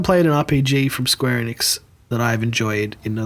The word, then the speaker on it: Enix: Speaking of people who I wish would shut down, Square Enix.